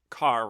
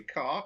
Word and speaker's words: Kerr: Need we remind you, Kerr rhymes with star. Exactly. Kerr rhymes with star.